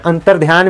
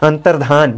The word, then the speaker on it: अंतर्धान: तो आपको ध्यान रखना अंतर्ध्यान में भले ही यात्रा उच्चारण करते हैं यह गलत है या होता ही रहिए अंतर्धान यह सही होता अंतर्धान मतलब अंतर्ध्यान मतलब